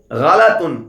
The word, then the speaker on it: غلط: کہیں، قتل نہ کہیں۔ الغلط غلط والغلط صحیح۔ غلط کو غلط نہیں پڑھنا بلکہ غلط کو آپ نے غلط ہی پڑھنا ہے۔ تو یعنی لام کے اوپر آپ نے زبر پڑھنا ہے، جزم نہیں پڑھنا۔ تو آپ کا تلفظ